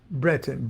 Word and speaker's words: Breton: Scriabin, Breton, B-R-E-T-O-N, and R-A-R-T-A-U-D, Artaud.